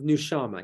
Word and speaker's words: Nushama: Is it pronounced Nushama? Of Nushama, yeah.